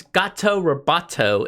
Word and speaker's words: Gato Roboto: alright so I gotta be careful how I pronounce this its gato Roboto is the next game which came out in